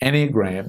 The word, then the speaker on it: enneagram: thing that you could look at is the enneagram that's spelled e double n e a g r